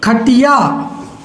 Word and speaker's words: खटियाँ: यहाँ हम पढ़ेंगे खटिया, यहाँ पढ़ेंगे खटियाँ, यहाँ पढ़ेंगे गुड़िया, यहाँ पढ़ेंगे गुड़ियाँ, यहाँ पढ़ेंगे चिड़िया, यहाँ पढ़ेंगे चिड़ियाँ। यानी नाक से आवाज़ आएगी इनके उच्चारण में और लिखने में भिन्नता,